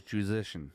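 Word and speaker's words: Juszczyszyn: He told me it was Juzician when I was around him last time, and that's how I should pronounce it. He pronounced it basically in his native tongue, and I couldn't get it, so he said Juzician. He said like musician, but say Juzician.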